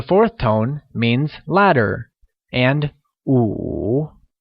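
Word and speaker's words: 午: tone means ladder and Wu pronounced in the third tone as o means noon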